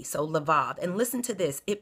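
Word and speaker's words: lebab: e b a b but the B is pronounced in a V so laav and listen to this it means your appetites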